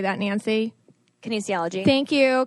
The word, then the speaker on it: kinesiology: and keaney's how do you say that nancy kinesiology thank you kinesiology and she's a pre and postnatal expert she's